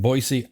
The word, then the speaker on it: Boise: wildfires the national inter agency fire Center in boisey Idaho and that is how you say it